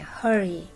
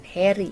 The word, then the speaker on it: hurry: Hai hari ini Hai tulisannya hurry Tapi bacanya hari bukan Heri Ya hore Hai hari